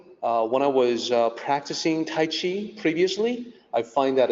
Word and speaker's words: Qi: The pinyin system, when starting with the Q, the pronunciation is CH.